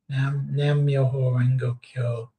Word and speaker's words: Nam Myoho Renge Kyo: And I'm trying to remember the Nam, how do you pronounce this? Nam Myoho Renge Kyo. Nam Myoho Renge Kyo.